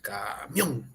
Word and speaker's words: camión: es camión sin tildar dónde reca la mayor fuerza de voz camión la última ahí es aguda todos estamos de acuerdo